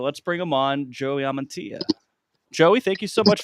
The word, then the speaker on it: Amantea: every time you three how do you think you pronounce my last name I right I thought it was ammania no no no I don't have a guess amantia amantia okay like I'm gonna do